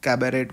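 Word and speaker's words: cabaret: ठीक है, कैबरेट बोलते हैं एक्चुअली, प्रोनाउंसिएशन इसका ये है।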